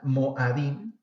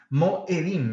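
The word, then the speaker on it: מועדים: Esto es la raíz verbal ya'ad, de donde deriva el sustantivo moed o plural moadim. Y recalco que es moadim, no es moedim. Algunos hasta en eso lo han pronunciado mal, ¿no?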